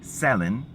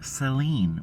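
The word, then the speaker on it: Selena: She says her name Selin. And she's probably said her name that way her whole life. and we've always called her Seline.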